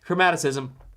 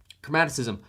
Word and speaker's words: chromaticism: Chromaticism. Point is, I'm saying it right. Chromaticism.